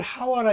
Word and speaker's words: 하와: 그래서 아담은 그 아내를 하와라 이름하였으니 모든 요게 이제 그 헬라 말로나 헬라어나 히브리 말로는 이게 하와 이렇게 발음하지만 실질적으로 영어로 하면 이브입니다.